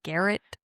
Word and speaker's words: Garrett: Garrett. It rhymes with ferret.